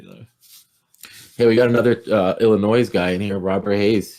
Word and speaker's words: Illinois: Hey, we got another Illinois guy in here, Robert Hayes. He says, The S is silent.